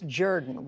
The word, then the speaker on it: Jordan: I have to ask you first, it looks like Hamilton Jordan, Kathleen Jordan, but it's Jordan. Where did that come from? You know, my dad always said it's the Southern pronunciation of the surname.